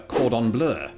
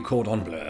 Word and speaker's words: cordon bleu: It it doesn't say bleu, like the color, like our logo. Well, it's based on French food. Yeah, I know. So, and then it's based on the French pronunciation, bleu.